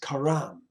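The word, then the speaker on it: חָרַם: It's pronounced karam.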